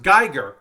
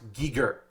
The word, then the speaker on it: Giger: biomechanical nightmares h r Giger and you're like Pat I'm pretty sure it's pronounced Geiger you're wrong it might be spelled g-i-g-e-r it's pronounced Geiger it's pronounced Geiger but